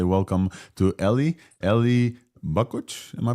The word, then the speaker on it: Eli Bakuch: And in to cover the open source and the first release in our docket, we want to say welcome to Eli Bakuch. Am I pronouncing this correctly?